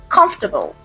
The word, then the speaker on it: comfortable: For this word, native speakers like me shorten it. So we say comfortable. Comfortable. Not every letter is clearly pronounced.